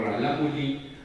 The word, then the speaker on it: Rarámuri: O sea, ahora en vez de Rarámuri, ellos pronuncian algo así como Ralámuri, ahora van a decir, no, yo azteca.